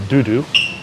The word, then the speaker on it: dodo: Here's our local beer, officially called bourbon, but which the locals all call dudu, which is the French way of pronouncing dodo, because of a dodo bird.